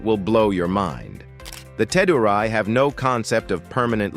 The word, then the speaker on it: Teduray: The Ted, pronounced Tedurai, are one of the most fascinating indigenous groups in the Philippines.